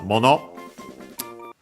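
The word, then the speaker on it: もの: Then we have mono, things, clearly in general, in this case. Mono, accent on the last syllable.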